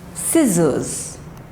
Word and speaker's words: scissors: is muscle muscle muscle next is not scissors but scissors scissors scissors next is not accent